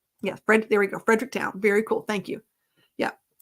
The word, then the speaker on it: Fredericktown: Missouri um Frederick yeah I just say Fredericktown because I would say Fredericton as a southern person I have to say it like a Missouri person yes Brent there we go Fredericktown very cool thank you